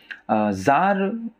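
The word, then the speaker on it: czar: ज़ार Russia के शासकों को कहा जाता था, एक तरह से रशिया का राजा बोल सकते हैं आप ज़ार को, ठीक है। सी इसमें साइलेंट होता है, तो यही मस्कुलिन जेंडर का वर्ड है।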